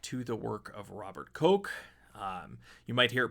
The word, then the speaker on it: Koch: the work of Robert Koch. You might hear it pronounced Koch or Koch. He's German, so it's Koch.